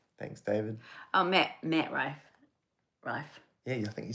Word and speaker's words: Rife: oh, Matt Rife.